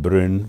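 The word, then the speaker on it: Brünn: of moravia of czechoslovakia in german it's called bryn b-r-u-double n in check it's brno on the 9th of october 1928.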